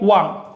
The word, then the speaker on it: wan: Ahí sí no es con on, ahí es con Wan. Así que si sumamos un orden, se usa la expresión o el ligativo Wan.